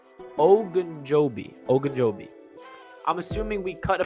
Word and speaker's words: Ogunjobi: If you bring in Ogunjobi, I gotta say his name right, Ogunjobi.